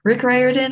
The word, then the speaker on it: Rick Riordan: Rick Riordan, I will be pronouncing correctly because that is how you say his name.